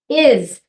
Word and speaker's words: is: Is a heart word as well. The I says what we expect it to say, what they've been taught. The S, though, in this case, is pronounced like Z.